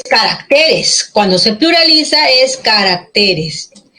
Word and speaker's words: caracteres: se queda grave ya el acento pasa del singular en carácter ahí llegaba la fuerza de voz en caracteres la fuerza de voz recae en t grave que termin